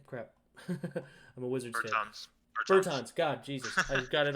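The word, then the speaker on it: Bertāns: Beltrans? Is that how you say his name? Crap. I'm a Wizards fan. Bertans.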